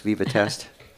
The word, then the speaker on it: Vivatest: Vivatest. Yeah. Ceramic diffuser. Kind of like Viva Las Vegas, Vivatest.